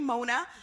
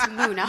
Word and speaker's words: Muna: So let's just say if someone comes up, hey, Mona. So, and I know your name's not Mona, but hey, Mona. Dairy, Vivian, pronounce it right. It's Muna. No.